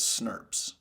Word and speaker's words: snRNP: ribonuclear proteins is snrnps which we can say phonetically as snps so RNA splicing requires